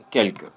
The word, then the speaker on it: quelque: Tu vois, il y a un petit retard entre le L et le que pour toi.